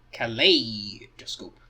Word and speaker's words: Kaleidoscope: Kaleidoscope. And it's do-scope, not like da-scope or do-scope.